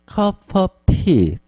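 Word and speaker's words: cup of tea: 말을 부드럽게 연음을 하면 C 다음에 of 이렇게 돼서 C of C 이렇게 발음이 돼요 그래서 나 my C of tea C of tea 이렇게 부드럽게 여음이 되면 좀 더 부드럽게 발음을 해 줄 수가 있겠죠 자 한 번만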